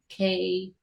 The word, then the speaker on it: Komari: Komari. Okay. Komari, K with Omari.